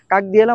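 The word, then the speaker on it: как дела: এটার কিন্তু বানান যদি হয় তাহলে বানান অনুযায়ী যদি উচ্চারণ করি তাহলে উচ্চারণ হবে কাক। ক আকার ক। কাক দিয়েলা। বাট এটার উচ্চারণ কাক দিয়েলা হবে না। ক আকার গ।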